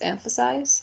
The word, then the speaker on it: emphasize: Okay, so the first word is emphasize. It has 3 syllables, and the stressed syllable is the first one.